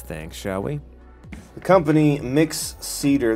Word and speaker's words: Mixcder: shall we the company mix cedar that's how I like to pronounce it I've heard people call it mixter but mixed cedar seems to be the most logical I think I don't